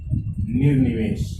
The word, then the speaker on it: निर्निमेष: होगी निमेष, ऐसी इसकी सही रचना ये होगी निर्निमेष। नी के बाद में ये रे का उच्चारण हो जाएगा और फिर निमेष, निमेष यानी पलकें, बिना पलके झपकाए देखना निर्निमेष कहलाता है।